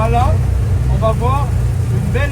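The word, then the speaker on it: Qala: Alors, on ne prononce pas le Q, on dit simplement Allah.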